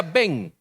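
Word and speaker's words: ben: tenían en su nombre una partícula que se pronuncia ven por ejemplo cuando hablamos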